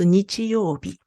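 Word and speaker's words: 日曜日: Et ensuite, et par rapport donc, même quand j'ai différentes prononciations, par exemple, celui-là, bon, ce mot, c'est dimanche, et on prononce nichiyobi.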